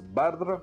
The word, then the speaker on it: Baldr: Oui, je sais, normalement ça se prononce Baldr, parce que c'est le nom d'un dieu nordique, mais c'est pas facile à prononcer, donc je vais me contenter du bon vieux Balder à la française.